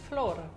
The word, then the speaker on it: flor: Flor. Yeah, it just ends more abrupted, I guess, like flor.